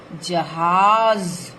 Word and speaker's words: जहाज: और इनके उच्चारण में जब हम सामान्य ज बोलते हैं तो ज, जहाज, जैसे जहाज आप बोलेंगे तो ऐसे बोलेंगे, इसमें दोनों ज का प्रयोग है, जहाज।